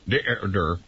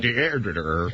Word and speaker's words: Deirdre: I think it's a Welsh name. It means woman married to a douchebag. It's got 18 syllables. Deirdre. I heard she almost married Captain Sack, but then she met you. More cash. Right. Deirdre. Say it soft and it sounds almost like praying.